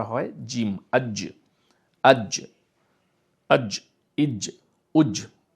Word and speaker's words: জিম: শব্দ হয় এরপরে হলো জিম জিমের জন্য কি হয় আপনার জীভের মাঝখানটা যেয়ে মুখের ছাদে লেগে যায় এবং লেগে গিয়ে সেখান উচ্চারণটা হয় জিম আজ আজ আজ ইজ